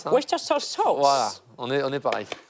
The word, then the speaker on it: Worcestershire: Comment tu prononces ça? Worcestershire sauce.